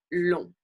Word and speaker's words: long: Le G généralement, par contre, est une lettre muette. So the G is usually muted. Donc, par exemple, en rang, in line, being in line, long.